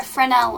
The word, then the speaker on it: Fresnel: you find in lighthouses it's called a fresnel lens or a fresnel lens i'm sorry the s is silent so here you have